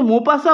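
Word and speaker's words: Maupassant: সেখান থেকে হচ্ছে আচ্ছা মোপাসা উচ্চারণটা হচ্ছে মোপাসা ওয়াজ কে ছিলেন মোপাসা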